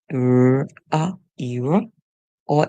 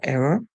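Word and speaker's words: era: really looked at was the word er where the E says e ER or it can say a er error so this word is pronounced always eror or error and that word actually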